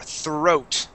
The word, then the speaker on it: throat: that th yeah th throat throat okay okay let's uh let's practice that R sound following a th okay um it it